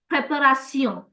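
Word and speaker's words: préparation: want everybody to know a lot of words in English and French that you see that end in t i o n, you'll find them in French as well. So like preparation is an English word. In French it's the same same spelling, same orthograph, but we call it prepario, education. Same word in French, same in English, same spelling. In French, it's educio. So all your t i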